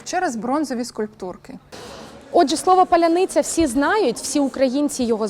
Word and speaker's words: паляниця: символом гостинності скільки словом паролем його не могли вимовити ні окупанти які пройшли в Україну ні російські пропагандист слово клубника по-українськи звучит Поляниця если ответил неверно или неправильно произёс тобто с